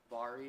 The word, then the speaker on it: Vera: new sofa by precedent the very sofa Vari which show different way to pronounce it but a little bit